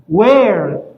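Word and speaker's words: where: تدرس الكلمه الثالثه اين وير وير هذا الاتش سايلنت يعني لا ينطق مثل سؤال وير يف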